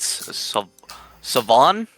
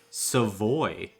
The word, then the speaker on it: Savoy: Savon? Savoy. Savoy. There's no N there.